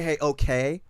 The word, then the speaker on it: Heyoka: off of my album, Heyoka. Did I pronounce that right? It's actually. Don't do this to me. I'm playing. No, you got it. You got it. Heyoka. Heyoka. Heyoka. It's actually hey okay.